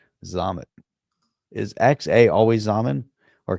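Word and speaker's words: Xaman: X-A-M-A-N. It's like ramen noodles, but with an X, and pronounced with a Z sound to it, right? Zamen.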